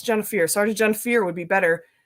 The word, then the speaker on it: Jennifier: So my first name is actually said Jennifier. There's an extra I in there, so it's F-I-E-R. So a lot of people say Jennifier. I'm like, that's not English because Pier is spelled P-I-E-R, right? So it's fear, Pier, same thing. So Jennifier. I've always been very regimented in my life.